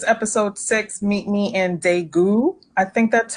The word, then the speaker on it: Daegu: so this is episode six meet me in daegu i think that's how it's pronounced um in the throes of the korean